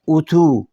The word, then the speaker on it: اتو: جو ہے نا اتو، اس میں واو سے پہلے جو حرف تے ہے اس کے اوپر پیش نہیں ہے، اس لیے ہم اس کا تلفظ تو کر رہے ہیں. اگر تے کے اوپر پیش ہوتی تو ہم اس کو تو بولتے. تو اب یہ لفظ ہے اتو.